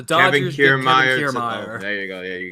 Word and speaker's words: Kiermaier: Kiermaier.